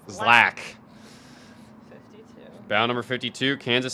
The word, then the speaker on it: ZLAC: and bound number 50 is zlac from San Diego California oh pronounced Zack 52 bound number 52